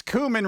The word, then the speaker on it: cumin: black pepper and it it's cumin robot it's cumin I know Zone's here but you got to pronounce it properly what's up uh let's see